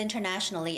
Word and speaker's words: international: about the action of internationally establishing it's too long i know internationally internationally normally when the word is international it's the same the internet the third syllable has the stress so it's international and it's the same